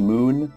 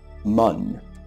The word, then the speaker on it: Mun: body here, this thing, they call that the moon, although it says quite plainly Mun. It's not even the Mun. Also, where'd that umlaut come from? I keep seeing people spell it with an umlaut on Reddit and forums and all that. And yeah, umlauts are fun, and that would make it sound like moon, but there's no umlaut.